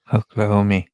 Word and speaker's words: Oklahoma: Oklahoma. Oh, Oklahoma. You can't do it without you do the long O.